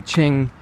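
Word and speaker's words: Qing: it was confusing me the first thing I had to learn about Chinese was how to pronounce q because you see the Ching you know dynasty the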